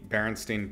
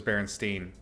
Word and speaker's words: Berenstain: is spelled completely differently it's stained like a stain in your clothes okay now i have